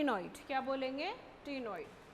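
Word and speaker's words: cnoid: नाम में आंसर है नइड सी साइलेंट है भाई नॉइड स्केल नॉइड स्केल पहले डायग्राम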